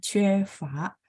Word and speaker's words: 缺乏: Jadi tadi huruf C, begitu teman-teman tambahin satu garis di atas, dia bacanya fa yang artinya kekurangan.